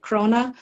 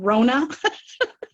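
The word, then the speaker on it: króna: currency is the Icelandic krona which is weird because every time somebody mentioned money I thought they were calling my name because they don't really pronounce the k it just comes out Rona hello hello yeah what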